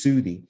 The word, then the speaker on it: Soudi: spelled like in Arabic it's spelled like Saudi Arabia it's pronounced Su which in turn means